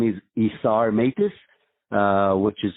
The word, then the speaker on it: Isar Meitis: LinkedIn and lucky for me my name is isar matis uh which is spelled Isa r m e i t i